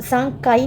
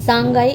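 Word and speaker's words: 三階: First floor है, सांगकाई, अब सांगकाई नहीं है, गाई है, गा है इसका प्रोनाउंसिएशन, का नहीं है, क्योंकि जब इसके पीछे दो बिंदी लग जाती है तो प्रोनाउंसिएशन बदल जाता है। सांगाई is second floor and सो ऑन in India.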